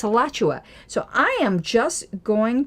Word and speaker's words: Alachua: Remember I said it's spelled here Alachua and it's Alachua.